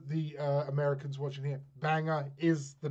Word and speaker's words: Bangor: uh americans watching here banger is the name of the town it's about bangor but like yes it's pronounced banger um but okay so